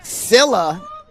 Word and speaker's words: Scylla: I'm actually being told I'm pronouncing the Milwaukee side wrong. Sila seems to be the correct pronunciation.